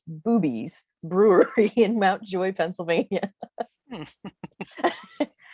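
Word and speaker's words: Bube's Brewery: Uh, and it's spelled B-U-B-E, but it is pronounced Boobies Brewery in Mount Joy, Pennsylvania.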